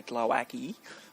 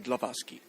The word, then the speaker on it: Glowacki: I grew up in Australia where you'll say Glowacki, or you can be the Polish one and say Glowacki.